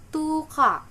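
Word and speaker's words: 十日: 8 youka, 9 kokonoka, 10 itu tuka. O-nya panjang karena double.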